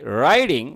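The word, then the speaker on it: writing: রাইডিং helps your memory, বলছে কি রাইডিং মানে লেখা, এখানে আমেরিকান রুল অনুযায়ী উচ্চারণটা হবে ডা সাউন্ড হবে, টি সাউন্ড চেঞ্জেস টু ডা সাউন্ড হিয়ার। আর এখানে কি করতে হবে? রাইডিং বলতে হবে, রাইডিং আমেরিকান উচ্চারণ।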